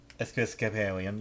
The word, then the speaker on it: Episcopalian: most popular religion uh i can't say this pronounced right but it is episk pollen episcopalian yeah episcopalian yes i know it okay the